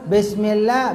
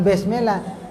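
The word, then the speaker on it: بسم الله: jelas jangan Simi Simi jangan juga besmellah b jadinya besmellah bukan bismillah bismillah begitu ya kok kali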